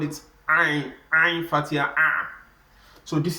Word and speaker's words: عين: It's one of the letters we pronounce from the throat. So when pronouncing this, we call it Ain. Ain.